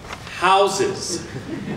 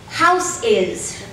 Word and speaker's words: houses: pronounced house house and the plural houses is pronounced houses houses horrifyingly one has started to hear house is or even house kiss the verb to house